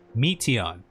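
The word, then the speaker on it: Meteion: Meteon. That's how you pronounce that.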